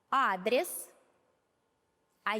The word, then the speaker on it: адреса: Адрес, а если их несколько, то будем говорить адреса.